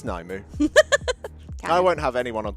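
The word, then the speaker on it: Nymue: on orange, and even are we going Naimu or Nim, or the correct pronunciation Nimue? I feel like Naimu is kind of now.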